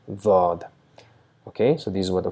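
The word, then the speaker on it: ضاد: the grinding teeth, and we try to produce a sound D, but because of the touch, small slight sound of Z is produced, Daad, Daad.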